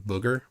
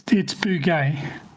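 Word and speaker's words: Bouguer: He can probably correct us on the pronunciation of booger. He has corrected me in the past, and I've proceeded then to forget about how to pronounce it correctly. It's bugay. Bugay. Okay. It's bugay.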